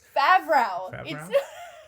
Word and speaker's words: Favreau: That's Favreau.